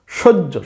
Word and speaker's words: সহ্য: হচ্ছে এই কথাটা সহ জফলা কি হবে সহ্য সজ্জ সহ্য মানে কি কোন কিছু মানিয়ে নেওয়া মেনে নেওয়া ইত্যাদি এটাই কি সজ্জ তাইলে শব্দটার বানানো হচ্ছে সৌষ দন্তস কোন স